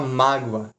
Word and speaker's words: mágoa: Aí você chega lá uma mágoa e caça em claque. Vamos lá, mágoa. Se é mais forte essa má.